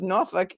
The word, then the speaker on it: Norfolk: And I think it's because the way I pronounce Norfolk, and that is the way to pronounce it, right?